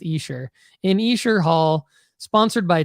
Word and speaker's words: Esher: I was saying Escher, but it's pronounced Esher.